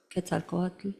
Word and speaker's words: Quetzalcoatl: Quetzalcoatl.